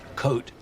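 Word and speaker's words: Côte: Coat. The S is silent.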